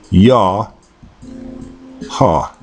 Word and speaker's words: Yah Ha: from right to left it would be pronounced in again in the oldest dialect yah ha I am or um